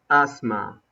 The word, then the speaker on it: asthma: the first one is asthma asthma the th is silent asthma where do you